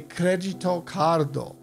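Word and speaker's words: クレジットカード: we wouldn't say credit card the way we pronounce it in English we would say cregito cardo and to ask the wait staff one of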